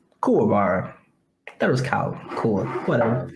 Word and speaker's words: Kuwabara: Who's Cool Bara? Kuwabara.